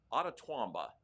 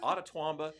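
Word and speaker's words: Itawamba: I think it's pronounced Ottawamba. It's an Indian name. Ottawamba Community College in Mississippi.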